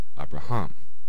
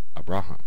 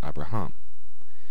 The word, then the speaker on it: Abraham: anyway we've now got three syllables and that accent mark wants to move to the last syllable cuz the last syllable is almost always accented so when you add another syllable and a new ending that syllable that ending tends to get the accent Abraham not Abraham but Abraham so the accent has